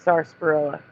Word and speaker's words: sarsaparilla: Well, is it still pronounced sarsaparilla? No, it's sarsaparilla.